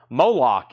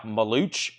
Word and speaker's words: Moloch: Moloch is sold to Neil Reigler. Moloch. It looks like Maluch, or it could be Moloch, but it is evidently Moloch.